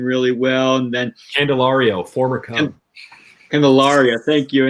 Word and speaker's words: Candelario: I still can't pronounce his name really well. And then Candelario, former Cub.